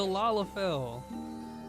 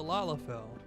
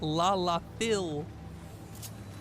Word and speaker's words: Lalafell: Fell. Like I fell over. Not Lala Phil.